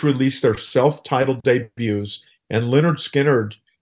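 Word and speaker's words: Lynyrd Skynyrd: their self-titled debuts and Leonard Skinner emerged with pronounced Leonard Skynyrd that's the name of the album there I'm guessing their management was worried how their name might be pronounced as Leonard skinard uh yeah well at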